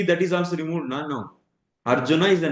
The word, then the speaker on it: Arjuna: So he is removing the ach actually, the ending ach, and But usually pronouncing Arjun, we say Krishna Arjun, the name. And we are not speaking the Sanskrit verses. In Sanskrit verses, I read Arjuna Uvacha or the person's name Bhima.